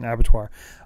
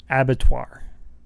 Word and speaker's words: abattoir: just say it slowly abattoir is that English no it's the French word for much better but ABB